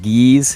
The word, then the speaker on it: GYZ: And GYZ, Geese is how you say it, holding on down with that tank position.